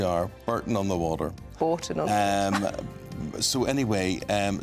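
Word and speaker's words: Bourton: Although I would always pronounce it Borton on the Water.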